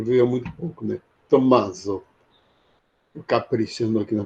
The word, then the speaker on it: Tommaso: Tommaso. Caprichando aqui na pronúncia. Tommaso, porque tem dois M, tem que dar essa.